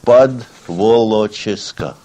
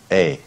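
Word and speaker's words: Podwołoczyska: I'll say it to you and then I'll spell it out. Podwolochiska. Podvolochyska, which means under Wolochisk, which is another city, Wolochisk, and this is below that.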